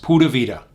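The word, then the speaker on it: pura vida: Rica is their motto that's printed here is pronounced pavita and it just means Pure Life it's a great way to look at things as you're visiting Costa Rica pavita so hopefully you can see that Costa Rica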